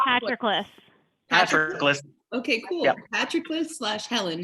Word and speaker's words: Patroclus: Patroclus, is that how you say that? I read it in a book. That doesn't mean I know how to pronounce it. It's Patroclus.